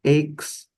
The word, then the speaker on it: aches: Body aches, so this we pronounce aches, pain in the different part of your body, due to illness.